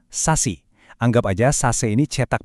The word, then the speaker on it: SASE: Jawabannya ada pada sebuah arsitektur baru yang namanya Sase. Dibacanya Sasi.